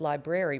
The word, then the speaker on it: library: a grammar nerd and I don't like it when people pronounce library, library. So she went from calling, when I corrected her and said, it's library, baby, strawberries, blueberries, blackberries, everything became, every berry became a brary.